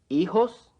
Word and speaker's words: hijos: ¿Hijos? Keep in mind that the H is not pronounced in Spanish. Also notice that the J is pronounced like an H in English.